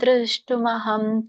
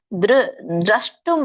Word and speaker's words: ದ್ರಷ್ಟುಂ: ಕಿರೀಟಿನಂ ಗದೇನಂ ಚಕ್ರಹಸ್ತಂ ಇಚ್ಛಾಮಿ ತ್ವಾಂ ದೃಷ್ಟುಮಹಂ ತಥೈವ ತೇನೈವ ರೂಪೇಣ ಚತುರ್ಭುಜೇನ ಸಹಸ್ರಬಾಹೋ ಭವ ವಿಶ್ವಮೂರ್ತೆ. ಇದರ ಒಂದು ಉಚ್ಚಾರಣೆ: ಕಿರೀಟಿನಂ ಗದಿನಂ ಚಕ್ರಹಸ್ತಂ ಇಚ್ಛಾಮಿ ತ್ವಾಂ ದ್ರಷ್ಟುಂ ಅಹಂ. ಇಲ್ಲಿ ದೃಷ್ಟುಂ ಇಲ್ಲ, ದ್ರಷ್ಟುಂ ಅಂತ ಇದೆ, ಅದರ ನೋಡಲು ಅಂತ ಹೇಳಿ.